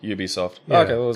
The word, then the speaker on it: Ubisoft: has to be stunt the pronunciation has to start with a consonant oh so it is you Ubisoft say R Ubisoft they